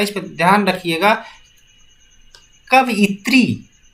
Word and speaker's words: कवयित्री: कवयित्री, ये अक्सर पूछा जाता है। कवयित्री सही शब्द लिखा जाए तो अगर हम इसकी उच्चारण करते हैं कवयत्री होगा, कवयत्री, आप जरूर इस पर ध्यान दीजिएगा।